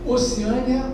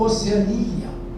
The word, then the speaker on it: Oceania: Palavras que admitem dupla prosódia. Se você disser, correto. Se você disser xerox, correto. Acrópa, não é? Hieróglifo hieroglito, correto. Sangão ou zangão, que é o marido da abelha, né? Zangam ou zangão estão corretos. Oceânia ou oceania estão corretos. Ambróia ou ambrosia, né? Reptil ou reptil. e projétil projetilo. As duas formas estão corretas.